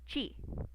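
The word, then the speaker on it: ち: This one is not T, it's chi.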